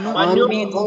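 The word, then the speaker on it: نؤمن: কিন্তু আমাদের উচ্চারণ হয়ে আচ্ছা এখানে হলো হামজা, নুন হামজা পেশ, নু খর মতো না, বাংলায় বলতে গেলে আপনার অর মতো উচ্চারণ হবে, অর মতো বা আর মতো। ওয়া নু মিনু, নু মিনু, এখানে যেন ওয়া নু মিনু এই ধরনের না হয়, কারণ যদি খ বা কাফের মতো উচ্চারণ করতে চাই, না না খ উচ্চারণ করা যাবে না, কারণ এখানে যে হরফ আছে ওই হরফের উচ্চারণটাই করতে হবে।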